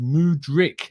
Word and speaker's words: Mudryk: In terms of pronunciation, Claudio says it's pronounced Mudryk, emphasis on the first syllable.